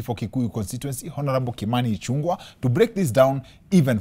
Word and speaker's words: Ichung'wah: Growing up, where I come from, people don't know the name is pronounced as Ichung'wah.